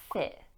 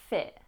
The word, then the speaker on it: fit: In terms of pronunciation, fit, fit. We can pronounce the T, but it's often glottalized.